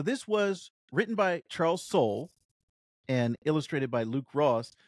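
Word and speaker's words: Soule: now so it's it's Soul it's Soul not soay it's Soul yeah it's Soul yes every time I looked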